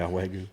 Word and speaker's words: Wagyu: Yeah, Wagyu.